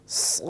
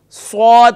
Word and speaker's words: صاد: پانچ الف کی مقدار، اس کے بعد صاد اسے بھی پانچ الف کی مقدار لیکن اسے ادا کرتے وقت الف ادا کرنا ہے، اکثر غلطی کرتے ہیں اس پر سواد پڑھتے ہیں یعنی سواد کے بعد واو محسوس ہوتا ہے، سواد سواد یہ سواد، تو یاد رکھیے ہم نے الف محسوس کرانا ہے، ادا کرتے وقت الف